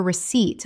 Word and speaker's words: receipt: Two syllables with the stress on the second. Example. Always ask for a receipt when you pay in cash so you have